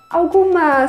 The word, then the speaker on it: algum: Alguma semelhança?